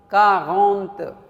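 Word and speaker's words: quarante: and then 40 will be different 40 कैसे pronounce करना है कागंत कारगोंंत कारगोंंत दिस इज़ 40 सो 40 हमने देखा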